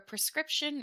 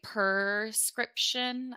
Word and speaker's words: prescription: prescription I almost say perscription I think that's pretty common in American pronunciation it's a little bit